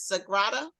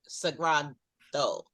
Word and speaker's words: Sagrado: I'm saying it as Sagrado. Sagrado. Okay. And it translates to sacred.